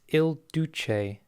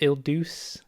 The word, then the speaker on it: Il Duce: Just to set the record straight, it's Il Duce, okay? Not Il Duce. I said it wrong. People were very mad at me. I don't speak Italian. I don't claim to speak Italian. Il Duce.